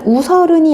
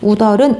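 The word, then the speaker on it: 웃어른: 그래서 우설은이 아니고 뭐였죠? 우덜은이었죠. 시옷의 대표음 뭘로 바뀐 후 디귿으로 바뀐 후 올라갔기 때문에 우덜은 이렇게 발음했던 기억이 납니다.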